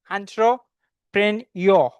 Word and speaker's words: entrepreneur: Okay, so the pronunciation of this word is entrepreneur. It's not r sound pronunciation માં નથી આવતો.